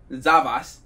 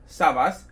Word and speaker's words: SAVAS: a little side note I used to think that this clearly backwards s was a z so I always pronounce this brand zabase not Savas so maybe just to